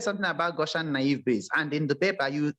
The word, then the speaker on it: naive Bayes: keep telling you guys is called naive bayes not navy bias right yes yeah but